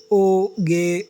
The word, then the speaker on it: Hugues: Hugus Oyarzabal, roughly pronounced Oge Oyarzabal, was born on March 7, 1985 in Saint-Jean-de-Luz, a fishing port in the Basque region of the southwestern France.